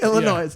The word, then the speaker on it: Illinois: Illinois. Oh, it doesn't have an S at the end. Illinois. You don't pronounce the S, it's silent.